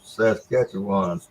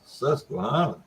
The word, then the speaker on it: Susquehanna: a minute ago and and roger calls his saskatchewan let me help you with that pronunciation roger it's susquehanna at least you couldn't play it okay man